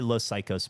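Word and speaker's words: Los Caicos: Did you say Los Psychos? I've never heard of Mutantes. I did say Los Psychos, but it's spelled Caicos, I believe. Like LOSCAICOS, I think is how it's spelled.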